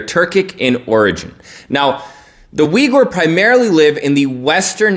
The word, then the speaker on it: Uyghur: vigor muslims or their vigor chinese ethnic group now vigor many people think it's pronounced because it's actually spelled like that but the vigor people